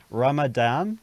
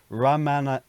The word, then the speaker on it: Ramanathan: Ramadan? No. Ramanathan. Ramanathan.